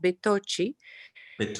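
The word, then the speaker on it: Bettocchi: was a stephen obitoki of southern italy would pronounce it betochee and it's a bugatti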